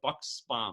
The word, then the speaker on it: Buxbaum: Hey guys, Tim Gillette with the Tim Gillette Show, and I am back here for another podcast interview with the lovely Buxbaum.